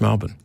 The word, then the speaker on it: Melbourne: But do you miss Melbourne? Perfect pronunciation.